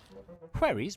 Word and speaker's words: wherry: Wherries, pronounced wherries, were long, Oh.